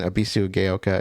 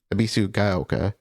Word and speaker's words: Ebisugaoka: in And I I I know how to pronounce it now. I I got it partially correct. I was saying Abbyu Gayoka, it's Abbyu Abisu Gaoka.